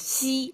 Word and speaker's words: 兮: sense of a sign, like you pronounce this 兮, like 兮, kind of exhale a flat tone to give you the sense of it's a little bit of regret.